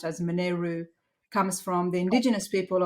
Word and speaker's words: Monaro: the actual um the term Monaro which is pronounced as moneru comes from the indigenous people of Australia which